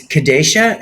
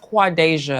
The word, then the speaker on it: Quadasia: First of all, Holly Johnson's, real name is as Kadesha. Is it? Am I saying? It's pronounced Quadasia.